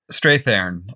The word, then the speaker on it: Strathairn: How do you pronounce his last name? Strathairn.